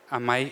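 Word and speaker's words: amai: pronunciation of amazement and also one of the only words where AI sounds native to our Dutch language. So it's ami a mi.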